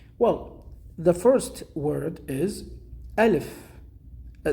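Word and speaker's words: ألف: is first alpha so the first one is alif in arabic we say alif perfect the second one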